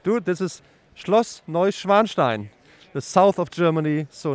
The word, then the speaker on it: Neuschwanstein: Here's another build you might be able to help us pronounce. Yep. I'm like, dude, this is Schloss Neuschwanstein, the south of Germany.